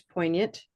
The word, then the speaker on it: poignant: There's poignant.